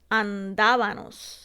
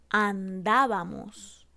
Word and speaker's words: andábamos: O cuando cambiamos la M por la N para lograr el plural en los verbos como estábanos, íbanos, andábanos. En vez de decir la correcta que sería estábamos, íbamos, andábamos.